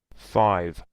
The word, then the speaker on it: five: Every single time that you find a V, I have to exaggerate it. Five. Five. Five. I'm not saying that you didn't pronounce properly, but this is a reminder for everyone. We have to exaggerate the V.